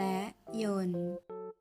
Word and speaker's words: ยนตร์: รัก มา จาก ภาษา ขอ เสนอ คำ ว่า โยน และ โยน คำ ที่ ออก เสียง ว่าน แปล ว่า เครื่อง กลไก หรือ เครื่อง จักร ที่ ทำ ให้ วัตถุ เคลื่อน ที่ สามารถ เขียน ได้ 2 แบบ โดย แบบ แรก ได้